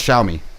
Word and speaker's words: Xiaomi: is it the one with the x in front of it that i don't know how to pronounce that's um that's xiaomi did i say xiaomi